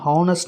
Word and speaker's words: honest: அப்படி கான்சனன்ட் லெட்டரில் ஆரம்பிக்கப்பட்ட வார்த்தை vowel சவுண்டில் உச்சரிக்கப்பட்டால் we can write an. புரிஞ்சிருக்கும்னு நினைக்கிறேன். For example an honest man, an hour.